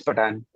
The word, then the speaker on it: Patan: Pat Yeah, it's Patan. Patan.